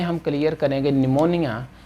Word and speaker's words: pneumonia: तो निमोनिया जो है इसके अंदर बेटा पी जो है साइलेंट है।